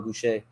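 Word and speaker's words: Gausha: How about Erickson Lubin versus Terrell Geisha or Goucher? Let me say his name. Terrell Goucher.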